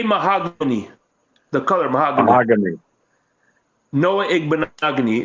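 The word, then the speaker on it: Noah Igbinoghene: Noah Igbenogany. It rhymes with mahogany. So Noah Igbenogany.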